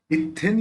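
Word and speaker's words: इत्थं: 37 इथ्यन यथा, इथ्यन यथा है ना, इथ्यन यथा। अब यहाँ पे य है तो इसका उच्चारण न ही निकलेगा।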